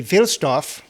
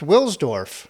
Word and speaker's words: Wilsdorf: Well, if you go by the traditional German pronunciation, the W is pronounced as a V. Okay, so it'd be Wilsdorf. But he's in London, and so it's probably pronounced Wilsdorf.